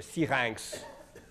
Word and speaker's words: Syrinx: Um you know that sir or siranks which for some reason in France they can't pronounce anything correctly.